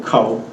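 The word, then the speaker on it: Ka'ū: Plus, they pronounce all the Hawaiian words, the names of the streets, where they're from, ka'u, you know what I mean? It's kind of, you don't say kau, ka'u, so they already have a way to pronounce Hawaiian language.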